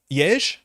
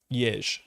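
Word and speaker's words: Jež: Jej, J-E-Z, with a little hat on it. Jej. It's just like Jez.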